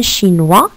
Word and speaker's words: chinois: » Alors, un chinois, ça s'écrit avec un S à la fin.